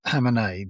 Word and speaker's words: Khamenei: I thought he was the the Khamenei How do you pronounce the the one who's just been killed? Khamenei.